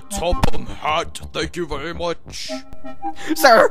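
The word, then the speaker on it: Topham Hatt: That's pronounced Topham Hat, thank you very much.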